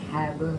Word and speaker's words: Hagar: It's recognizing God's guidance and provision in difficult situations like Hagar seeing the well. That is pronounced that right, Hagar.